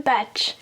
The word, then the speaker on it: bach: et elle a choisi le batch comment ça s'écrit P a C H il y a pas de T et qu'est-ce que ça